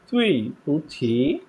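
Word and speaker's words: 对不起: বলবো তুই পুছি, প্রনাউন্সিয়েশনটা এরকম হবে, তুই, প্রথমটা ডি ইউ আই আর, প্রনাউন্সিয়েশনটা এরকম হবে, তুই তুই, তারপর হচ্ছে পু, তারপর হচ্ছে ছি ছি, থার্ড পার্সন, তুই পুছি তুই পুছি, এরকম হবে।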